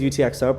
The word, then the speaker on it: UTXO: call your balance uh the phrase utxo pronounces letters stands for unspent transaction